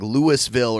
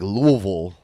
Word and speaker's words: Louisville: It's like some people, when they say it wrong, it's like Louisville, or say Louisville or Louisville or Louisville. But it's like the people that live there, they're like Louisville. That's how you say it.